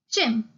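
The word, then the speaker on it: chimp: Next, in the next word, P is silent. We'll only pronounce till M. Chim.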